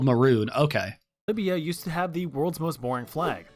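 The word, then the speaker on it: Mörön: Sadly, it's pronounced Maroon, but that ruins the joke. Oh, really? I mean, obviously I've heard about it because I watched the Grand Tour, but they called it Moron.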